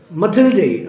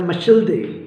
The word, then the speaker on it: Mathilde: Okay, मथिल्डे, मिथिल्डे या मशिल्डे ये pronunciation है फ्रेंच का.